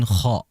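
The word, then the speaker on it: خ: Ya, ghain itu pengucapannya sangat halus, kha itu kasar menurut saya. Maka oleh sebab itu bedakan antara ghain dan kha.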